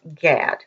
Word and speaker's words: Gad: And if you're reading the Bible, most people would pronounce that Gad.